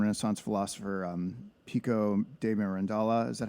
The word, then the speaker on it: Mirandola: The Alchemist and Renaissance philosopher um Pico de mirandola is that how you say his name mirandola